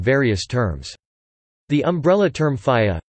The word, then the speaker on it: ဘုရား: The umbrella term phaya, pronounced pija, which derives from Sanskrit vara, refers to pagodas,